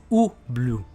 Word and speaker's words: Ubloo: pardon ça se dit paris blue ça se prononce ou blue alors voilà ça s'écrit différemment mais ça se